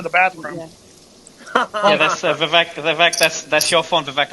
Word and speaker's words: Vivek: Vivek, it rhymes with leak.